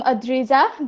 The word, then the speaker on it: Adrija: And then I am Adrija, that is how you pronounce my Yes.